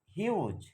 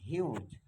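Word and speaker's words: huge: ইউ এর মতোই হবে হিউজ এইচ ইউ জি ই হিউজ তাহলে আমরা এখান থেকে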